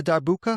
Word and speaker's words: darbuka: You don't have a darbuka?